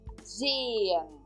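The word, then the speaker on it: sehen: temos o verbo se eu não Estou pronunciando o h aqui Z estô dando uma ênfase no e e no e de novo Zan Eu não pronuncio o h Ok então significa traduzido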